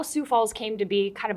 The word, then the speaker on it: Sioux Falls: Well, first of all, I'd say it is in fact pronounced Sioux Falls, not Sioux Falls, Sioux Falls.